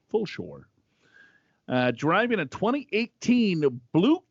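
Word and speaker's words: Fulshear: outside of houston in full sure pronounced full shore sure full shore uh driving a 2018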